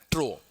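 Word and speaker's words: trough: Pronunciation क्या है? ट्रो।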